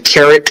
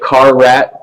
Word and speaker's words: Carrot: that's a great question some may pronounce it car rat but that is not the way to pronounce it it is Carrot um and actually this